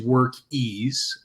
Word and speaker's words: Workiz: It is Workiz, and it's around being easy.